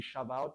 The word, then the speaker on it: Shabbat: Est-ce que vous savez que le terme Shabbat, en vérité, c'est Shabbat parce que le B se prononce V.